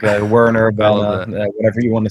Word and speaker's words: Werner: would be Werner and if you would go German it's like Vienna what do you prefer yeah so do anything goes like a Werner whatever you want to